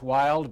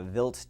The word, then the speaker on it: Wild: it and in uh in German a w is pronounced like a V so vilt 2 this was his